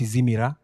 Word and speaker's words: Simila: The name Simila is a Luya name. It's pronounced Izimira. Izimira.